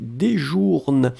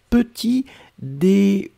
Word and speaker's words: petit déjeuner: Sabrina is writing, je prends ma petit déjourne. Alors, be careful, Sabrina, because the word is petit déjeuner. Okay? So it goes with J-E-U-N-E-R.